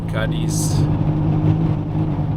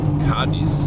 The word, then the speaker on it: Cádiz: Puerto Real, Cadiz, or Cadiz. So the accent is on the A, so I think it is spelled Cadiz.